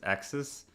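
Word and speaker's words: AXS: forgetting by the way a x s is pronounced as axis i i can see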